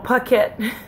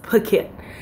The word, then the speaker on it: Phuket: travel started in Los Angeles to Phuket or pocket but it's actually pronounced Phuket so I came to Phuket it cost me